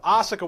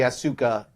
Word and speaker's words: Asuka: And then we have Asuka winning the Royal Rumble, and I think you also have Ronda Rousey on that one, no?